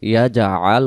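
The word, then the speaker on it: يَجْعَلْ: এরপরে আমরা যদি দেখি আলাম ইয়া জাল যদি পড়ি তাহলে এখানে জিমে জবর হয়ে যায়, ইয়া জা আল উচ্চারণ হবে।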